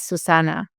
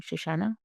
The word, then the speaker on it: Susanna: And my name is Susanna. So I pronounced my name Shashana and it wasn't my fault.